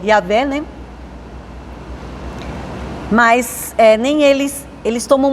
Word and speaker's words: Yahvé: Então, para ficar melhor, para a gente pronunciar, é que eles colocaram ali o A, né? A vogal A e a vogal E, que é Yahvé, né?